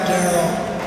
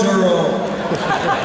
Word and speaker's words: Merle: And as a matter of fact, it's not Daryl, it's Duro. Merle and Duro. And no matter how the hell they spell it on the scripts and you see in the muse, it's spelled D-E-R-L-E.